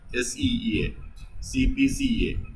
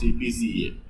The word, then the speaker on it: CPCSEA: CPCA. That is how it is usually pronounced, CPCA.